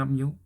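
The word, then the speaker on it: μ: bacanya mi yang kayak huruf M latin itu bacanya mu nah kembali lagi ke pertanyaan itu kenapa 1/tiga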